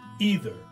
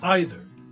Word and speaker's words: either: most English Learners know the Americans use the uh e sound either and the Brits use the I sound either M but really both Americans and British use both ways right it's become a